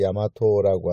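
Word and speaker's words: 大和: 그래서 외가 이제 조금 더 좋게 얘기해서 대외, 그게 이제 미화되어서 대화 라고 쓰고, 발음은 이제 야마토라고 하는 이제 이름을 쓰게 되었고요.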